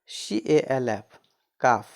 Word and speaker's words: calf: CALF काफ, CALF काफ, काफ मतलब गाय का बच्चा, काफ मतलब क्या होता है? गाय का बच्चा, इसमें एल का उच्चारण नहीं होता।